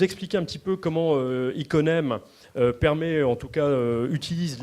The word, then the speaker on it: Iconem: J'ai pas arrêté de prononcer ça Icomen toute la journée. Et voilà, là je l'ai bien dit, Iconem.